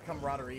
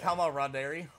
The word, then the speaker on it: camaraderie: Did I just read that as Kama Roderi? Yeah, something like that. You did. 3 days later. I cannot believe that you mispronounced that. Like, I can't believe you mispronounced the word.